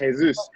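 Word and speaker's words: Jesús: It's actually pronounced Jesus."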